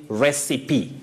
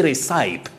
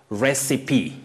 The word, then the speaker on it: recipe: Now, Martha Nanjala of Bungoma, you say recipe. Don't say recipe or recipe. Recipe. Martha Nanjala of Bungoma. Dennis Odwor Ochieng and Victor Ademba of Darajambili, you say pronunciation.